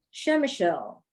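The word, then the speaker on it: Przemyśl: r z e m y s l is pronounced shem michelle slide number four please shemachul is located in the southeastern corner of poland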